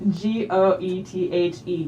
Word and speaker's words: Goethe: Can I please pronounce the street G-O-E-T-H-E?